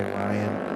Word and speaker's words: Ryan: Robinson's name wrong because according to the pronunciation guide, it's Ryan.